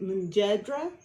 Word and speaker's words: Mujadara: Some people pronounce it Mujadara or Enjedra. It is spelled a couple different ways depending on the dialect and where you come from.